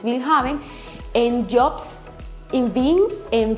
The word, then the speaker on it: Willhaben: Buscan las páginas como InfoJob, LinkedIn, Willhaben, se escribe Willhaben en español, pero en alemán es Willhaben, en Jobs, en Bing,